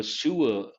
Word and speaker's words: sewer: So sewer, R is silent.